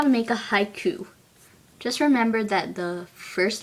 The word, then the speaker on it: haiku: chunks of a word it's like if you say the word haiku you say it a little like this Haiku so that's two syllables now the next word